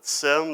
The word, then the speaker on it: SIEM: solutions by the way have you noticed that seam is pronounced differently depending on what vent like there's a company called simplify that calls it sim there's a company called seamonster that calls it seem it I think you can just pick however you want to pronounce it so seam solutions offer